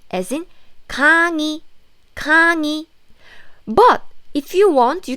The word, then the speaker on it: 강의: I said if this 의 sound is in the middle of the syllable, not in the first syllable, then you pronounce it like 이, as in 강의.